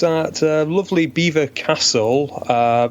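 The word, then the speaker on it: Belvoir Castle: venue it's at lovely Beaver Castle uh yet it's not spelled like like that it's spelled like Bel or however but the locals insist it's Beaver Castle uh it's it's quite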